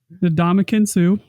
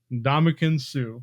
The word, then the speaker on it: Ndamukong Suh: Ndamukong Suh. Ndamukong Suh.